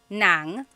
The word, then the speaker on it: ng: N a n g nang and then ng nang. So earlier I said like oh adobo I am eating some adobo that nang is ng ng I'm